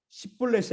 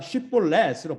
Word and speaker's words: 쉽볼렛: 십볼렛이 아니라 쉽볼렛으로 발음하는 것이죠.